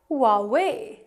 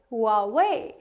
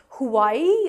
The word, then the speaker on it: Huawei: H here is actually silent and it is pronounced as Huawei, Huawei, Huawei. So Huawei is the correct pronunciation of this brand, and it's not Hawaii or Huawei, it's Huawei.